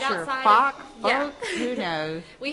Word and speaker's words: Foch: Okay, we are at 925 Foch Street. Foch, okay. Yes, I wasn't right sure. Outside Foch, Foch, yeah.